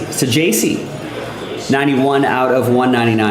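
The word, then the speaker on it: Saggese: Here is Thomas Saci Saji 91 out of 199. I think it's the pronunciation is J in the middle there.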